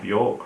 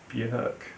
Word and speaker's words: Björk: I'm pronouncing Bjork wrong. Apparently, it's Björk.